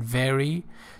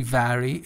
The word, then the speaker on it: vary: influences that context can vary don't say very it's very as a verb means change alter so it's a typical mistake to say very okay from family to